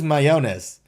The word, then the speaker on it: Mayones: It is Mayones. Which is a lot closer to mayonnaise, but that's okay.